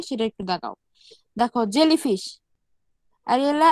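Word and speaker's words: Aurelia: দেখো জেলিফিশ, আরিয়েলা আরিতা, বা এটা অনেক সময় এই ইউ এর উচ্চারণ করে না, রিলা আরিতা বলা হয়, জেলিফিশ।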